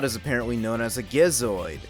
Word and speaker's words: Gizoid: apparently known as a gizoid pronouncing it with a G because there's no way it sounds right with a J and the gizoid ends